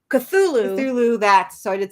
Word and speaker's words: Cthulhu: Travis Gibb, who shout out to Cthulhu. That's how you say it, right? Did I say that wrong? Cthulhu, so I did say it wrong.